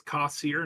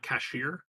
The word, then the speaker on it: Kassir: It's Kassir, not cashier.